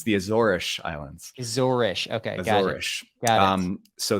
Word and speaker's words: Azores: pronounced azorus which is Portuguese you would say azorish they say ish for their s's we you and I